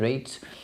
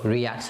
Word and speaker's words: REIT: real estate investment trust reit rates uh or reacts depending how you want to pronounce it and then you've got